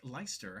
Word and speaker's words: Leister: So I'm a little bit familiar with the the EI arrangement there in the name, but I appreciate the the consideration.